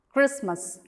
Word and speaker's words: Christmas: They all have a silent T.